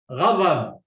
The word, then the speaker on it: غضب: غضب. Radab. غضب. Radab. Okay, you cannot pronounce the dha as da. You pronounce it. You are pronouncing it as da.